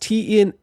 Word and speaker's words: Tenar: It's pronounced Tenar.